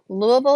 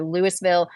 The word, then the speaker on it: Louisville: Louisville is pronounced lou.